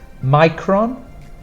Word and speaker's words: micron: that difficult to spell the C in this one is a k sound here it was a s here it's a k sound and the stronger print sound for the pronunciation is on the first one micron micron and then